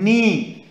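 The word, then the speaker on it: knee: वन हम read करेंगे के एन ई ई इसको बोलते हैं हम नी नी इसमें के के साइलेंट है ओके तो के को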